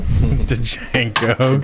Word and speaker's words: Django: You get over here, Django. Django. D silent. The D is silent.